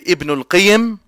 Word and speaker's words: Ibn al-Qayyim: But the correct way to say both names is as simple. Just to put it simply, you can say Ibn al-Qayyim or Ibn Qayyim al-Jawziyah.